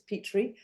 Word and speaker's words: Petry: And Petry spelled Petry, and you can tell that I keep on pronouncing it wrong, but it's Petry. But I pronounce it Petry because that's how I am seeing the word.